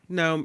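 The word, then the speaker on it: Noem: her name wrong Christin no is it gnome oh yeah noome right Nome yeah I said Noom last time Christy gnome there she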